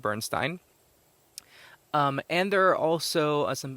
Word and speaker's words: Bernstein: artists like Jean-Michel Basquiat, Leonard Bernstein, or Bernstein. I think I might have been mispronouncing it. I think it's Leonard Bernstein.